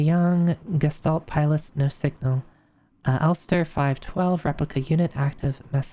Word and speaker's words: Elster: It's pronounced Elster, German for magpie.